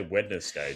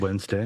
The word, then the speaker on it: Wednesday: How do you say Wednesday? Tattoo. You don't say wetness day, dude. Wednesday. Winkle. Woo. Wiggle. You don't say Wednesday. You don't say wedness day the way that it's spelled. Witness day. No. Do you say No, because it's silent. It's Wednesday.